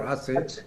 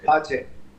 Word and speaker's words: Aceh: Ambassador Kapur will know how it's pronounced properly. Aceh or Aceh? Aceh.